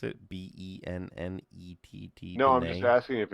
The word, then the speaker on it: Bennett: yeah I didn't know I mean you know it was Americanized obviously if you Bennett is it Bennett I don't know if they're if they're hoity-toity people that still pronounce it Bene leave a leave it